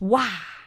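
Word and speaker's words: 哇: The thing is in English you say wow. So there is a oo sound at the end of the wow. In Chinese it's just wow. Wow. Yes. Just ah.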